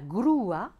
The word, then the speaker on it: grúa: Par exemple, guapo, la diphtongue oué, mais on va dire una grúa, l'accent permet de prononcer le U et le A séparément. Ou encore, vous voyez ici, historia, pas de diérèse, geografía, diérèse, accent sur le I.